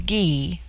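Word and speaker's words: Gy: the word Ana pronounced broadly on corresponds with our plural men on the singular with man the word for woman is ghee pronounced hard as in guy it forms itself into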